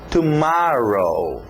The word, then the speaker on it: tomorrow: Então, tomorrow. Olha esse O agora aberto, som de A.